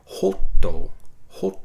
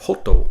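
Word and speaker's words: ホット: So if we break down the sounds, instead of hotto, which is actually 3 characters. We've got ho, and then we've got a small, it's a little character called tsu, but it's a small character written small, so you don't actually pronounce it. And it just functions in a word as a little bit of a pause or a delay. So instead of hoto, where I'm saying it really quickly, there's a slight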